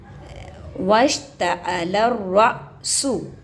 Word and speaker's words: واشتعل الرأس: لام را زبر لر، را حمزہ زبر را، واشتعل الرأس، واشتعل الرأس. آپ کو آسان مطلب ایک ایک لفظ کا ہجے کر کے بتانا ہے تاکہ آپ لوگوں